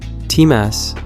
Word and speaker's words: Timas: Timas, apparently pronounced like Thomas, without the ho, was Chris's twin who died before birth, stillborn.